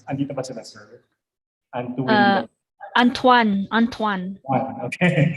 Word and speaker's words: Antoine: Tama po ba yung pronunciation ka sa names nila? Andito ba sila, sir? Antuin. Antoine. Okay. Antoine.